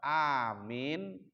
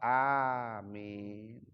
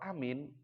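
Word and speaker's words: Aamiin: Supaya kabul sama-sama itu setiap doa yang dilantunkan kita juga paham sehingga kita amin. A-nya panjang, Pak. Amin. Kalau amin nanti itu 2024. Ya. Jadi harus amin.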